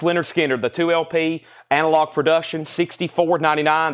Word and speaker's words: Lynyrd Skynyrd: We have Lynyrd Skynyrd, pronounced Lynyrd Skynyrd, the 2LP analog production, $64.99.